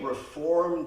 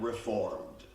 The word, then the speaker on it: Reform: Now, many Reform Jews mispronounce the name of their own movement. They say, I'm Reformed. And I let them know that Reformed means used to be.